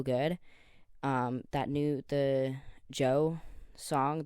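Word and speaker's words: Djo: um that new the joe song The DJ o but like it's pronounced Joe Joe Kiri song um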